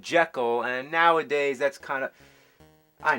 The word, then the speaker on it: Jekyll: You know that the proper pronunciation is Jekyll? That's what the author of the novel insisted, Robert Louis Stevenson, but only the first